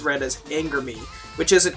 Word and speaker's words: ANGERME: They are spelled, it's a shortening of two French words put together. For those of you that don't already know, who haven't been keeping up, as Angers and Larme, if I'm not mistaken. I'm not very good with pronunciation. I haven't practiced French in like 7 years. Which is basically angel's tears. So that's a whole entire ANGERME is kind of the way it's supposed to be said.